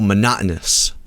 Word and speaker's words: monotonous: It's pretty monotonous. Mon monotonous. Oh, monotonous. Okay, got it.